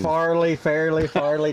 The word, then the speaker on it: Fairleigh: Farley Dickinson.